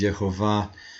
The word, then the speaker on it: Yehovah: Adonai passed before him and proclaimed Yud-Heh-Vav-Heh, the personal name of God, Yud-Heh-Vav-Heh, or the way it's spelled out in the Masoretic text is Yehovah.